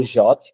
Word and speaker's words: JWT: The suggest pronunciation of the JWT is the same as the English word JOT.